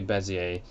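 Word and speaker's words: Bézier: it's spelled it's called sounds like desire but it's not and people you will hear people say it like that and it's funny but don't ever say desire I always say bezzie a let's go get made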